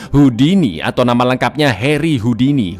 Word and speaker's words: Houdini: atau nama lengkapnya Harry Houdini. Houdini alur ya bacanya, bukan Houdini. Salah satu pesulap terbaik sepanjang